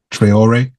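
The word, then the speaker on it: Traoré: from Bina Faso Ibrahim trayor that's how you say it trayor right trayor who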